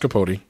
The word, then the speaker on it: Capote: It's pronounced Capote.